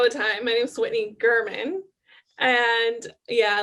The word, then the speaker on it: Gherman: Because I think I pronounced your last name incorrectly. Oh, it happens all the time. My name's Whitney Gherman.